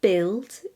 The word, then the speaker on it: build: too strange yeah and finally silent use build bu ILD God guilty laugh each of